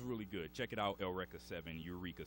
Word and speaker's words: Eureka: And another one I've seen is Eureka 7 or Eureka 7, if you pronounce it that way. The Japanese pronounce it Eureka.